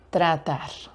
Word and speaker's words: tratar: Yo creo que sí es difícil para los hablantes de inglés porque tiene esa combinación tr que a muchos les cuesta como tr, a muchos les cuesta eso y pronuncian como tr tra tress tress tratar.